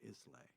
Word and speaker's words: Islay: that run tours there they call it Islay because they know that the tourists are going to pronounce it that way so they don't they don't try and find him they just say it's Leigh yeah yeah it's just